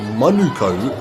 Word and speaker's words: Manukau: But it is Manukau.